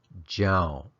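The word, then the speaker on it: ကြောင့်: The first is pronounced lo, and the second, jaun. So they both finish with that short, creaky tone sound.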